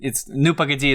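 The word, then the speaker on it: Ну, погоди: It's on YouTube, you just - well, I’ll have to - Nu Pogodi is the Russian way to say it, but I’ll send you a link.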